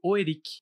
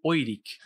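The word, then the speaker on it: Oerik: O continente mais conhecido e mais explorado é o continente de Oerique, também pronunciado como Oirik.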